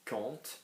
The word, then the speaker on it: compte: L'application qui compte, again, we don't pronounce the P, the T, anything like temps, like anything, we just pronounce the first three, quand.